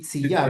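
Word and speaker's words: Tzidkiyá: Yehoshua Itziyah, Tzidkiah. ¿verdad? Así se Tzidkiah, pronuncia. sí. Tzidkiah.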